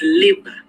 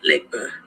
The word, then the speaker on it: Legba: is wrong number one his name is liba not liquor the g is not pronounced two he is not